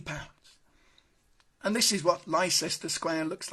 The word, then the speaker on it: Leicester: and we're on to Leicester Square I'm sure that's how it's pronounced sister Square and as you can